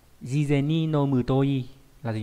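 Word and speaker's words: 事前: Đây là cái từ sự và chữ tiền đọc là jizen.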